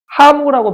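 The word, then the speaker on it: ハム: 하무라고 발음합니다. 햄이 아니에요. 하무. 하무 이런. 햄이 아니에요. 하무예요.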